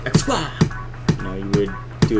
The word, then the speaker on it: XQA: Xqua. Okay, everyone says it's Xqua. Xqua. It kind of almost sounds like a martial arts move, right? Like Xqua.